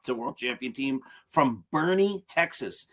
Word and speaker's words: Bourne: I want to go to the town of Bourne. And then you get out there and they say, no, it's Bernie. It's pronounced Bernie. As a Yankee fan, that was easy to remember because I just thought about Bernie Williams.